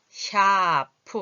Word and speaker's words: 샤프: 그리고 ' 샤프 ' 의 경우 ' 사 ' 가 아니라 ' 샤 ' 로 발음 되므로 ' 이 ' 소리 가 들립니다 .